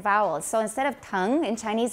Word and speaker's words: tongue: know is the tongue make sure everyone learns how to say it correctly in english because like i said it gets mixed up with tongue and tone which are totally different so tongue is like again in chinese tong tong the tongue tongue but open your mouth wider to get a different a slightly different vowel so instead of